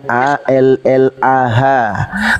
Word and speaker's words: Allah: Tuhan yang kami sembah Allah ya dibaca tafkhim dibaca tebal tulisannya alif lam lam ha ditransliterasi ke dalam bahasa Indonesia dengan menggunakan abjat latin tulisannya a l l a h kami bacanya Allah dibaca tebal Kenapa karena itu ada dalam ilmu tajwid dalam agama Kami sekarang